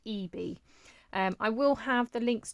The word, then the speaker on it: Ieebee: Now I believe I would have pronounced it Ieebee, but I believe from watching other videos it's actually pronounced Ieebee.